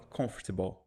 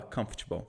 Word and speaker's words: comfortable: A gente fala comfortable. Um macete bem popular é o seguinte. Imagina que você está falando campo de futebol rápido. Aí você fala comfortable, em vez de falar comfortable, né?